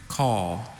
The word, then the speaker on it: caul: Call. Call? Call. Call? Are there any alternate pronunciation?